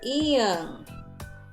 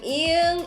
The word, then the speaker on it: 이응: Second sound, when 이응 is acting as final consonant, then it's ng sound.